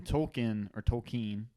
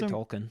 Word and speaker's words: Tolkien: Because like when Tolkien, How do you say it? I've seen I say Tolkien. Tolkien.